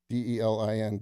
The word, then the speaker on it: Delin: His name is Delin, D-E-L-I-N, Delin Asparoff. I think I pronounced that right.